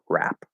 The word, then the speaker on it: wrap: just spelling and so if you see w r it's not wrap right it's just rap um the same thing